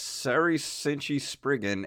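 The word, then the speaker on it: Seirei Senshi Spriggan: of Valkyrie, the Genji and the Heike clans, Sarai Senshi, How do you say that? Sarai Senshi. Sairi Senshi Spriggan. Yes, Sari Senshi Spriggan and Spriggan Mark II.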